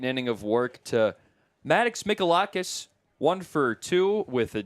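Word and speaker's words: Mihalakis: It's a silent H. Well, we'll spell it out for you guys at home. M I H A L A K I S. Molakis.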